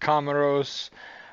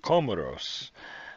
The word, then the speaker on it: Comoros: back all right so i called it kamaros according to wikipedia the pronunciation is comoros so hopefully i have